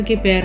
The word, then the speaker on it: कृपा: से इसे माना जाएगा यदि अक्षर के पैर में ऋ की मात्रा हो तो उसका जो उच्चारण है वह री र को छोटी इस तरह से होगा जैसे कृपा आदि इस र के उच्चारण